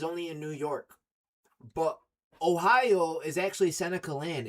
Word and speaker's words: Ohio: But Ohio is actually Seneca land. It's in our language. The correct pronunciation of Ohio is O-hi-o.